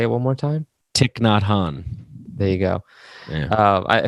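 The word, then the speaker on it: Thich Nhat Hanh: guy you mentioned i'm not sure how to pronounce his name say it one more time tick not han there you go yeah uh who i've read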